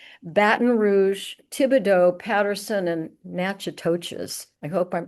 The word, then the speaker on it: Natchitoches: and museums in Baton Rouge, Thibodaux, Patterson, and Natchitoches. I hope I'm pronouncing it correctly.